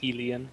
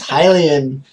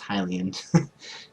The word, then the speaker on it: Hylian: No, it's Hylian. There's no E. It would be Helian if there's an E in there. English, phonetically, and like in the actual language, it is pronounced Hylian. So please stop trolling me.